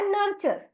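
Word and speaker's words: nurture: आवाज र तो इसीलिए एनय आर का उच्चारण हमने किया नर और टीय आरही उसको जोड़ दिया तो जिसका उच्चारण होता है चर तो इसलिए इस शब्द का उच्चारण हमने किया नर्चर और यहां पर हमने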